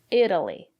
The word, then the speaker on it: Italy: And now let's look at these examples. Italy, Italian. Italy. The syllable after the letter T is not stressed. We pronounce the letter T as a fast D.